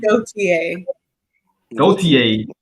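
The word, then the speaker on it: Gotye: what I'm talking about it's pronounced go gotier he's showing he's showing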